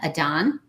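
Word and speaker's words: adhan: It's spelled A D Han Adan.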